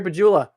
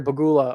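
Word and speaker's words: Pegula: Terry Bagula or Terry Bagula or however you want to pronounce his name. I keep saying it with a J, but it's really a G, and I know that.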